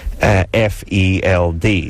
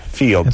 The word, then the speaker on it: Field: And our crack staff here on Loveline had it written on the beat sheet, F-E-L-D. So, of course, I pronounced that Feld, not Field.